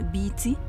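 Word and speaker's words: bity: نسوت ومعناها وجه قبلي علامه النحله تتنطق بيتي ومعناها الوجه البحري صوت بيتي معناها ملك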